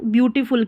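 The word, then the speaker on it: beautiful: तो यहां पर देखिए यह जो है ना ब्यूटीफुल की स्पेलिंग। अब इसको तोड़ना है। पहले ब्यू यह जो स्पेलिंग है ना इसको ब्यू पढ़ा जाता है।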